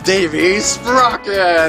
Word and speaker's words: Davy Sprocket: Anyway, it's Davy Sprocket is up next, like Davy Crockett.